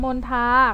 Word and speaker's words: มณฑา: หา ข้อ ที่ 1 มณฑา อ่าน ออก เสียง มณฑา ข้อ ที่ สอง บัณฑิต